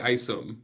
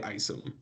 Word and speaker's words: Isom: Yeah, so both Instagram and Twitter, I'm at Isom, but the Isom is spelled Eyesum because a lot of people have a hard time pronouncing my last name.